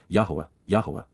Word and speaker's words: Yahowah: to face and appear with the appearance of, Yahowah, the proper pronunciation of the name of Eloah, God as directed in his Torah, teaching regarding his Haya.